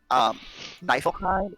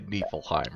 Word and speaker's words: Niflheim: In So, German, if it's maybe- IE or EI, the second one is the one pronounced, which is why it's Heim.